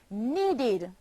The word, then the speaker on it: needed: The verb need, need, becomes needed, a past tense verb, and is pronounced needed, forming two syllables, need and id, needed.